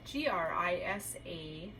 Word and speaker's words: Grisaille: Grisaille, spelled Grisaille, and pronounced Grisaille.